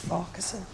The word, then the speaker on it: Farquharson: It's Farquharson. What? It's pronounced Farquharson.